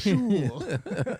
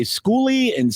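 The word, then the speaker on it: Skule: It's pronounced School. Well, I've heard people say Schooly, but then I heard somebody say it was School.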